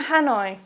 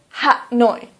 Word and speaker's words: Hanoi: hanoi please don't say ha noi please say hanoi or for example calcutta please don't say kolkata please say calcutta the reason that we